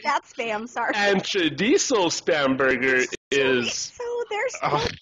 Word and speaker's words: chorizo: There is no D in chorizo. I know I'm saying it wrong also, but I can't really roll the R.